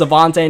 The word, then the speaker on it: Avonte: I don't know if I call him Anthony or what, but I got his name wrong, so I know it's Avonte now, and I'm still trying